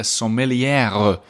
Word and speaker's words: sommelière: Today's guest is a sommelière. Do you hear how I pronounced it differently from sommelier? That's because that's how you say it when it's a woman, which is a topic that we talk a little bit about.